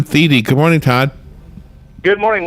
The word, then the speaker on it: Thiede: And Todd Thiede.